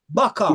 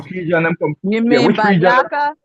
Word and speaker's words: Baka: Baka. Baka. Do you mean Bayaka? No. Baka. The baka. Try. Baka. Baka. B. Spell it.